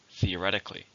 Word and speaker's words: theoretically: an adverb it has still has five syllables stress on the third theoretically theoretically this should solve